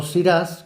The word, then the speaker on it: Syrah: del Nuevo Mundo pues la llamada siraj en Europa por deformación al pronunciar en inglés pues resultó siras que es como se le conoce tradicionalmente en Sudáfrica en Australia Nueva